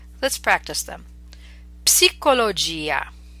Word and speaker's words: psicologia: Okay, so these are words we're familiar with, but in English we do not pronounce the P, whereas in Italian you must pronounce it. Let's practice them. Psicologia, psicologo, psichiatria, psicosi, psoriasi.